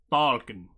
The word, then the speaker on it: falcon: Okay, now pronounce the L after the A. And that's fine. Falcon.